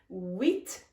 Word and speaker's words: huit: Huit, the H is silent here.